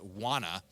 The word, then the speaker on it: Wana: and the company's name is Wana, which is spelled W-A-N-A, but also sounds suspiciously similar Do you to the wanna edible?